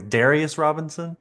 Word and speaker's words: Darius Robinson: It's Darius Robinson.